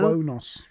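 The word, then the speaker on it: Qo'noS: Country, they made it Kronos, which I never realized how Kronos was spelt. I always kind of thought it was spelt with a K, but it's like QO. Quonos. Yeah. QO dash NOS. Quonos.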